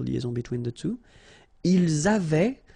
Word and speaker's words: avaient: Ils avaient, so remember, even if we've got this A-I-E-N-T, well, we don't pronounce it, or we don't pronounce this E-N-T, so we get avait, okay, phonetically.